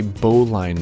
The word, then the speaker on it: bowline: knot that we have to create is actually pronounced a bowline knot and i personally have very little experience